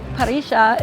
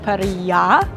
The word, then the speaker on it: parrilla: So finally we've learned that in Argentina, the double L's are pronounced sh.